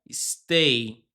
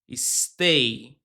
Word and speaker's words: stay: Então, o verbo se pronuncia stay. Isso mesmo. Começa com esse som de s, ó. S. Stay.